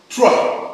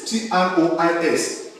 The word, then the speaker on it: trois: One thing in French you must know is that you don't pronounce the last alphabet, like we have in bonsoir there, like we have in bonjour.